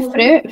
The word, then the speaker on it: frère: फ्रेर या FRERE, फ्रेर. FRERE, फ्रेर. FRERE और ई पे एक्सोन ग्राफ है.